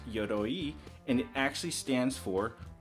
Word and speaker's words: Yoroi: started yo roy is actually a japanese word pronounced yodoyi and it actually stands for armor and specifically